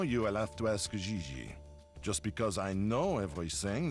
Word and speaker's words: JJ: i mean jj gg jj on francais you pronounce g like j and j like g she may very well be jj in america but in france she is gigi how well does she